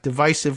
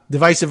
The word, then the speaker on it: divisive: see where is that where Obama got divisive with the soft eye okay uh divisive or divisive I see I always drove me nuts when he said it wrong okay so on our